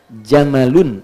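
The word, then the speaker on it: جمل: Saya notis ya pendek bacanya. Jamal bukan Jamal. Jamalun unta. Jamal ganteng.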